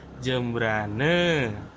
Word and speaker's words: Jembrana: Kalau misalnya di Bali itu kalau ada kata yang berakhiran A itu dibacanya e. Jadi kayak misalnya jembrana ini sebetulnya secara penulisan jembrana akhirannya A tapi di penulisan eh di pelafalan itu jadi jembrane.